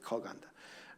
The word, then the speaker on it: 커간다: They spell it 크어간다, but they pronounce it 커간다.